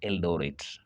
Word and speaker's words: Eldoret: When the settlers try to pronounce it, it was become difficult and therefore they pronounce it Eldorate.